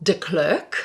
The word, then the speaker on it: De Klerk: said not correctly so how is your name pronounced correctly well my married name yes is de klerk yeah which i think in south africa would